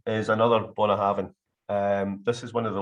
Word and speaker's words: Bunnahabhain: So Bunnahabhain, for example, the U at the start is pronounced as an O, and the BH is a V because there's only 24 letters in the Gaelic alphabet.